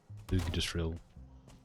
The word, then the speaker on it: Yggdrasil: I know it's pronounced like Ig. Yggdrasil.